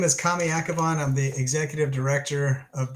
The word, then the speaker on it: Kamy Akhavan: Hey, this handsome fella is Kamy Akhavan.